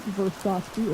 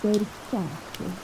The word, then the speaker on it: Versace: And you want to know it's not Versace, it's Versace.